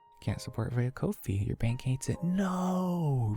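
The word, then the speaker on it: Ko-fi: to set up the Kofi for that Kofi is pronounced like coffee M I'm just verbally saying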